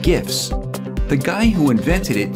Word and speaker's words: GIF: I'm going to show you how to create GIF animations, more commonly called GIFs. The guy who invented it, Steve Wilhite, said in 2013 that the correct pronunciation is GIF, like in giraffe.